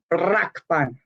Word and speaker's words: Brakpan: You must roll the R. Brakpan.